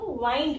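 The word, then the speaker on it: wind: अब हम इसको वाइंड भी बोलते हैं, यानी कि वा, बड़ी ई, वाइंड। यहाँ पे आई की आई साउंड आ गई। तो इनकी स्पेलिंग जो है वो सेम है, लिखना ऐसे ही है, प्रोनाउंसिएशन अलग है, एक को विंड बोलते हैं, एक को वाइंड बोलते हैं, और मीनिंग जो है वो भी अलग है।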